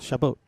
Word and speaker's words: Chabot: Chabot. But, you know, kind of in a French way, not in an English way.